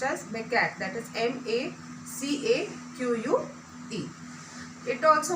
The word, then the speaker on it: macaque: It is pronounced as macaque, that is M-A-C-A-Q-U-E.